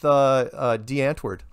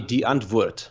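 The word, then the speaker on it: Die Antwoord: streets no I think you hang out with D Antwoord how's that yeah it's not pronounced like that but it's wait how is it pronounced it's actually not recons weird so it's actually D and wood so it's more you must try and say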